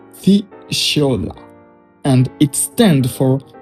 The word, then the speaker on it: FUSIAOLA: It is an analysis framework developed by Dipankar Jyoti, pronounced FUSIAOLA, and it stands for 8 things you analyze on every project.